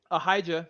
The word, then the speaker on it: Ahijah: into Jerusalem um aah the prophet or aijah as a lot of you uh know him there there's no in Hebrew so um I kind of Bounce Around between the Hebrew and the English pronunciation but um ahijah confronts